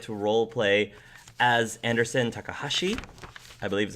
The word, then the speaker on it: Takahashi: So now we're going to move on to the in character questions where you get to role play as Anderson Takahashi. I believe is how you pronounce his name.